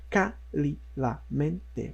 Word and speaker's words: cálidamente: Porém, a gente tem a palavra cálidamente. A acentuação ocorre em K. Por quê? Porque nós temos as sílabas cálidamente. Nós temos 5. E justamente a 5ª, da direita para a esquerda, é acentuada.